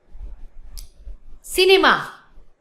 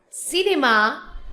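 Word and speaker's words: cinéma: Then another example is cinema. In English is cinema, but in French, cinema, but have to accent with the E. Cinema. Cinema. Have to put the accent with the E.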